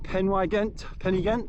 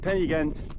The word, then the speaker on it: Pen-y-ghent: So that's Pen-y-ghent, I think you pronounce it, Pen-y-ghent, and that is the first one, which I think is about 700 meters above sea level.